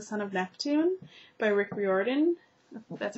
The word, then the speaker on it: Riordan: copy of the son of neptune by rick riordan that's how you say his name i always